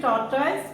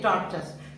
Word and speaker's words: tortoise: Wolf, geese, whale, animal, sparrow, tortoise. Don't say tortoise, I is silent, say tortoise. Pronounce it this way.